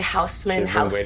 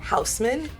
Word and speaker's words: Haussmann: I've been waiting to say Haussmann. She's been waiting to say that. And how do you say it again? Haussmann.